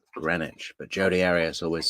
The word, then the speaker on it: Greenwich: r e e n w c but it's pronounced grenwich but jod Aras always says green witch she's the green witch um but that text was sent a little before 6 p.m.